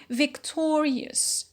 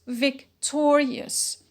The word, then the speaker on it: victorious: the noun the root it becomes victorious victorious so we notice again a shift in the stress